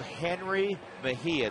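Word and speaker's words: Jenrry Mejia: the Mets system 20-year-old Henry Mahia that's how you pronounced that first name Henry he throws very hard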